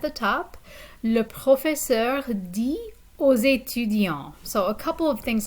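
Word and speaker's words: dit: professor or le prof di okay so you notice that the the t at the end of this verb which means says is a silent t so le professor di o zeitu and notice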